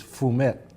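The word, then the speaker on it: fumet: French term I think the correct pronunciation not that I speak French it is foom it and but it's spelt fum et yes sir but it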